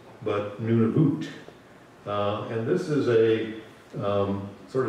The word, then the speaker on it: Nunavut: Not pronounced Nunavut, but Nunavut.